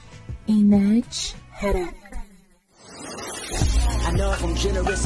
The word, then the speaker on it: inD Hr Ek: It is pronounced as inEdj Hedek. inEdj Hedek.